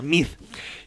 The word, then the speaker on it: Meade: Bueno, en mi caso yo siempre lo he llamado Mid porque según yo se pronuncia Mid.